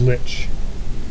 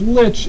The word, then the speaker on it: Lich: But, if you think about it for just a minute, what's something that rhymes with Lich and also is vindictive?